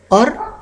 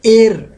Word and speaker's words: år: Jeg er 26 år. It's or, not air. AR, and there is a little drop in the up, so it is pronounced as or.